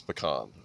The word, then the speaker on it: pecan: It's pecan. Okay. You have to pronounce it right or they'll come after you.